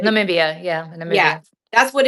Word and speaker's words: Namibia: Namibia? Namibia, yeah, Yeah, Namibia.